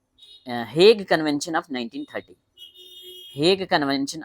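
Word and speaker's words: Hague: convention हग convention या हेग convention H ए जी यू ई हेग कुछ लोग हेगयू पढ़ते हैं वैसे ये हेग होता है एच ए जी you silent है हेग तो हेग कन्वेंशन 1938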